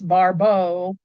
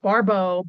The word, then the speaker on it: Barbault: It's not a bow. It's Barbault, pronounced Barbault, Barbault.